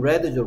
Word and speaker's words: read: ea의 발음이 e도 될수 있고, 뭐도 될수 있기 때문에, e도 될수 있기 때문에, read라고 읽으면 원형이고, red라고 읽으면 과거형이다. 이렇게 얘기했죠?